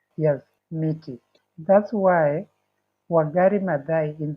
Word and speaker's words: miti: Mti is the singular. The plural is miti. Michi. Yes, miti.